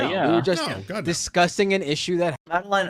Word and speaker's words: Madeleine: discussing an issue that Madeline Albright Madeleine I think it's pronounced sorry uh Albright uh